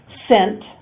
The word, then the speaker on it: scent: Scent, no C, that's a silent letter.